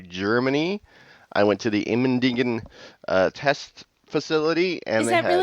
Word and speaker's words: Immendingen: to the German and ask, How do you pronounce this again? How do you say this? Immendingen? Immendingen.